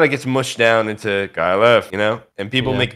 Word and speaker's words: KyleEff: Just for anyone who just hasn't really realized, it's KyleEff, not F. It's like pronounced KyleEff, because that's how it sounds.